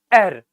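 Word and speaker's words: heir: here it's not higher it's not here it's air t h r l r is the pronunciation so when we pronounce the word er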